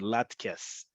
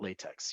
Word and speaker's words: latkes: Okay, so if you want specifically potato pancakes, the Ashkenazi tradition, latkes. Okay, that's how you're going to pronounce it. Emphasis on the last syllable, latkes. Or levivot tapuchei adama. We'll get to that in a second. But definitely not latex.